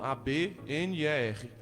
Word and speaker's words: Abner: Só colocar lá, pregador Abner, o B é mudo, A-B-N-E-R.